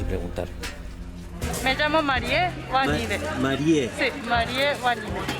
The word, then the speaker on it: Marié: Marie. Sí, Marie Wanibe. ¿Y se escribe tal cual, Marie? Marie sí, como escribe como Mary. Como Como Mary. Okay. Como Mary.